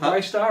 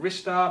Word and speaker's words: Ristar: And it also part of the blurb even mentions a rising star, so it would make Yeah, sense that it was Rystar.